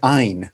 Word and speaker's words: Ayn: and I think she pronounced it Ein, but she Ayn, made right.